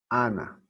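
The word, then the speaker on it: ἀνά: Ana. Así se pronuncia.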